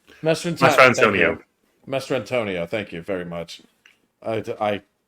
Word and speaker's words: Mastrantonio: Mastrantonio.